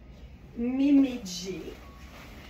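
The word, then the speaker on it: MEIMEIJ: La marque, là, ça s'écrit M-E-I-M-E-I-J. C'est toujours bien mêlant, mais en anglais, J, ça se prononce G, puis G, ça se prononce J. Fait que ça fait vraiment Mimi G.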